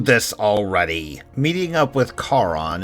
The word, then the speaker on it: Charon: Meeting up with Charon, and yes, I pronounce it that way because I don't think the Ferryman of the Dead should be compared to a lady in a bad haircut that wants to speak to my manager.